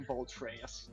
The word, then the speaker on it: Voltaris: Yeah, I know how it's spelled, but it's pronounced Voltreus. Okay. It's spelled Voltaris, but it's Voltreus.